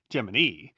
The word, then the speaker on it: Gemini: Following Project Mercury, Project Gemini, also named because it used a two-person capsule, although NASA used the idiosyncratic pronunciation Gemini, was intended to test